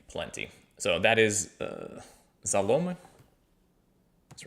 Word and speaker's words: заломы: So, that is uh "Zalome". That's right, right? That's Let me uh let me get my uh I think the stress is on the O even in the plural, but yeah. "Zalome" and the artist there is Daily Liar.